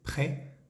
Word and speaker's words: près: cerca de se dice PR de fijémonos que no pronunciamos la s de esa palabrita pres la e tiene